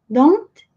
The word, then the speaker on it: don't: Don't, que numa frase é muito comum eles não pronunciarem o T. Fica don't. Don't.